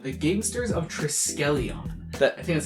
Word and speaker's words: Triskelion: First off, it's Triskelion. The one time I'm pretty confident in my pronouncing of the fake names, right? I fucking get it wrong.